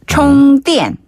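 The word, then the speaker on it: 充电: 한자 그대로 충전을 중국식으로 총띠엔 총엔 총띠엔 총엔 그렇죠.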